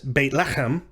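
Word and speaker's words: בית לחם: it's uh bethlehem sorry bethlehem is baitlachem or or baitlachem meaning house of bread next consonant in the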